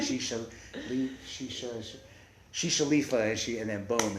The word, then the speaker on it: Shishaleafa: her head but she wanted it to rhyme with Whiz Khalifa so she's like she she she shifa and she and then